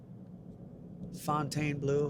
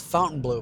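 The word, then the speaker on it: Fontainebleau: Fontaine blue, however you want to say it. Some people say it's fountain blue, but that is not the correct pronunciation. It's font fontine blue. Fontaine or Fontainey blue.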